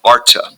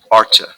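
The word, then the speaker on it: Artha: on to the next goal uh which is Arta Arta H is silent which means essentially worldly uh success what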